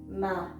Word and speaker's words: 마: it's a square and it is pronounced like the m you put the r behind it and you get ma okay i will give